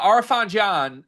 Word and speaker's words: Arafan Diane: He told me that's how you pronounce it. Riley was making it up then, but we can run with it. So, uh Arfan John uh he is a